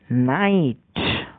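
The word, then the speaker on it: knight: Next শব্দ KNIGST, নাইট, যার মানে অশ্বযোদ্ধা।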